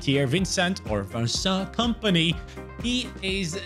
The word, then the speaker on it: Vincent: Yes, it is Vincent. That's how you pronounce his name. He said it himself.